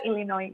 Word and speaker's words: Illinois: Yang benar Illinois ya.